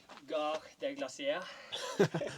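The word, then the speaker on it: Gare des Glaciers: Hvordan uttaler man det? Håvard. Garde glasier.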